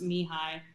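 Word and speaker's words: Mihály: to happiness and challenges his name is actually pronounced mihai but we're just calling it no no that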